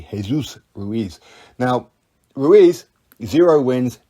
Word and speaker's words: Jesus: by my wife or kept pronouncing his name is jesus but it wasn't it's actually jesus ruiz now ruiz zero wins 10 losses only have stopped once back in 2017.